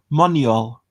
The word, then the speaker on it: Manuel: case and um apparently manuel's name is more like moneol manuel manuel manuel i